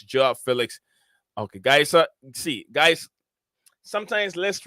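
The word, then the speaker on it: João Félix: Not Joe, it's Joao Felix.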